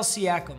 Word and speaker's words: Siakam: Hey, Alexa, how do I pronounce Pascal Siakam? I pronounce that Pascal Siakam, but I'm always working on how I say things and I'm Pascal not right.